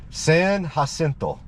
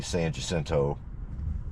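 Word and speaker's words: San Jacinto: we're on San jento San hento for all you Gringos that's the way you're supposed to pronounce it San hento but most folks just say San jento so we'll go with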